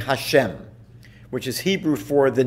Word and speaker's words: Hashem: reading the dot Bible then we pronounce it customarily by just saying Hashem which is Hebrew for the name we simply refer to God's name as Hashem the name now I